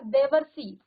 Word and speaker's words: देवर्षि: तो देखिए यहाँ पर देवर्षि, देवर्षि, देवर्षि, अब बीच में उच्चारण देखिए वर, जो ये र लगा है सौ में, ये जो र है ये सौ से पहले इसका उच्चारण होता है, जब भी ऊपर लगता है तो वो पहले उस शब्द से पहले उसका उच्चारण होता है। तो देवर, और वर में किसका उच्चारण आ रहा है, अर का।